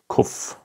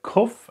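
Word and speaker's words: קוף: So that's the kuf, and the kuf is pronounced exactly like the kaf that we had in the first part.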